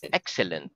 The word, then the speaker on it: excellent: in the word excellent the accent in the word excellent word is on the first syllable syllable very good do